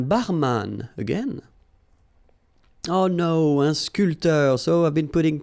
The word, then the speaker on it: sculpteur: Un sculpteur. Same thing here. This P here is not pronounced. So, sculpteur. Un sculpteur.